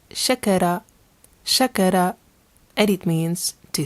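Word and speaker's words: شكر: This one is pronounced shakara, shakara, and it means to thank.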